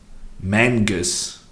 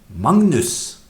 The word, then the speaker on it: Magnus: the French this time as much as Magnus pronounced mangas in Norwegian no Magnus is pronounced Magnus a lot of people say that Norwegian when